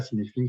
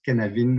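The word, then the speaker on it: Cynefin: qui s'appelle Cinéfilm, mais qui ne se prononce pas Cinéfilm, qui se prononce Canavin, ou un truc de ce genre-là, qui veut dire habitat en gallois, conçu par Dave Snowden,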